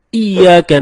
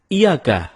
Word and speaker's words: iyyaka: nabudu wa iyyaka nasta'in ada yang membacanya dengan Iyakah tidak menekan huruf Ia seperti seperti sebagaimana kita jelaskan tadi bahwa penekanan itu dapat merubah makna kalau kita baca iyakanakbudu dengan menekan huruf ya maka artinya menjadi kepadamu lah kami menyembah